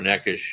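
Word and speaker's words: Nečas: ponic for necas uh what how do you pronounce name it is neish okay all right um but anyway uh uh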